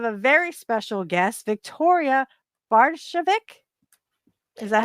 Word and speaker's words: Bardovic: We have a very special guest, Victoria Bardovic. Is that how you say it? Bardovic. Bardovic.